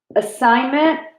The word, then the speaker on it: assignment: Assignment has a silent G right there.